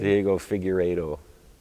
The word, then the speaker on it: Figueiredo: How do you pronounce his last name? Diego Figueiredo.